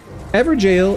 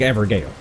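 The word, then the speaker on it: Evergaol: malactor everil but seriously ever jail is how people pronounce it it looks like ever Gale right it looks like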